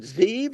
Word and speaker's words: Zeev: I said, "How do we pronounce it? Is it Zeev or Zeb?" Z Zeev.